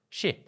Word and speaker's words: Shih: She. I don't know how to say her last name. I'm sorry. SHIH. She. Yeah.